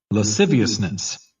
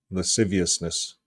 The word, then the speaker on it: lasciviousness: Lasciviousness. Lasciviousness. Did you get that? Lasciviousness.